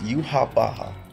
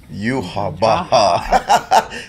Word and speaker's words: Yhwach: I know people weren't saying that's the way to pronounce it. I'm gonna pronounce it just like Yamamoto does. Yhwach.